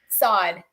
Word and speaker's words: Assad: that's it i'm good how do you say your last name sod so so i'm i'm